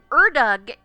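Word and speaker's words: Ördög: Erdug, which is how it is pronounced, is the Hungarian name basically for the devil, a personification of darkness and evil.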